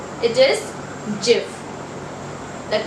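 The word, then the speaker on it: GIF: word this is very very mispronounced it is jif the correct pronunciation for this word is jib so these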